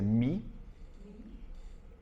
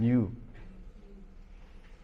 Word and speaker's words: mu: This thing is if you ask Michael Halasos how to pronounce this, he would say me, right? But the Americans pronounce it moo m new.